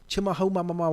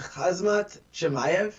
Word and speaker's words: Khamzat Chimaev: Then, everybody's on this new phenom of Chimahomamama, whatever his name is, Kazimov, whatever his name is. I believe his name is Khamzat Chimaev. Khamzat Chimaev, who, by the way, Khamzat. Say it right. Khamzat Chimaev.